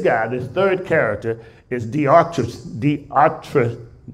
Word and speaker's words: Diotrephes: This guy, this third character, is Diotrephes. Diotrephes. Anybody else got a better explanation? Better pronunciation?